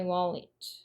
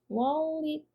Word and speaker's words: wallet: out of my wallet wallet. 마지막에 it 발음 it로 wallet라고 발음하셔야 돼요.